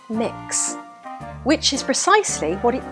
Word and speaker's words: Mx: There is no coincidence the title is pronounced mix, which is precisely what it does, mix and confuse people.